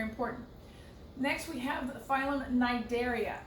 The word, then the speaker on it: Cnidaria: next we have phylum Cnidaria it's a C n but the C is silent these are your jellyfish